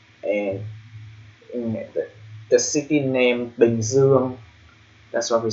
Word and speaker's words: Bình Dương: So the name of the country Bình Dương, the reason why we call that in Vietnamese pronunciation because there's a slash on top of the letter I, and there's ear in letter U, and also the same ear in letter O.